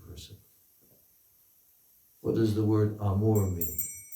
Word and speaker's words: amour: obligatory for everyone to pay homage to spiritual amour that characterizes the highest service of the divine person. What does the word amour mean?